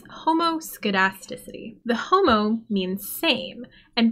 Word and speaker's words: homoscedasticity: assumption of linear regression is quite hard to pronounce it's homoscedasticity the homo means same and basically this assumption